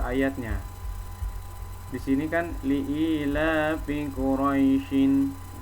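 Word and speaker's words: قريش: Di sini kan li'ilafi Quraisyin. Ketika diwaqaf atau berhenti di sini, maka shinnya ini jangan dibaca barisnya ini, tapi shinnya ini jadi sukun. Jadi bacanya li'ilafi Quraisy.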